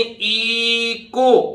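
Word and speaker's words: echo: एक समझो ऐसे ही इ को अब देखिए सी के बाद आया हुआ एच गड़बड़ करता है एच साइलेंट रहता है तो सी के बाद सीधे ओ को बोलेंगे तो इ को इ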